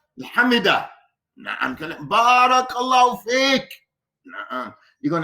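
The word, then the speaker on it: حمده: La not hamidu. You know how to say it, Hamza? Hamida.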